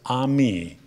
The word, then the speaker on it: AMIS: music in international schools we like to pronounce our acronym a Mis as a me if you know one word of French you know that that means friends and that is our